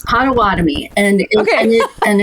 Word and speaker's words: Potawatomi: about the patama I'm gonna say it wrong patawatomi tribe why it's included it's Potawatomi and okay and it's um yeah so so